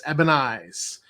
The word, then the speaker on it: Ebony Eyes: named um it was Captain ebenez e-b-o-n-i-y-e-s ebenez it's how I pronounce it uh Miss jumped he